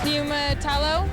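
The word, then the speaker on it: Niumatalolo: coach ken mia matalo making his debut he pronounced the name of your new head football coach neima tallow i'm a total said with authority finally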